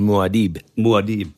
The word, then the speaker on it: Muad'Dib: Paul Muad'Dib, yeah.